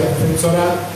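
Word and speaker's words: φθορά: Bueno, la destrucción o corrupción, como lo maneja la Reina Valera, procede del griego fetsorá, así se pronuncia, fetsorá, que se traduce como decaimiento o ruina, ya sea espontánea o infligida, ¿verdad?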